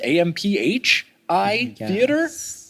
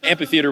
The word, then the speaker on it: amphitheater: amphitheater with a PH, but I guess you still pronounce it like P, right? It's not like amphitheater. No, amphitheater. Yeah, it was just like an extra H in there for no reason.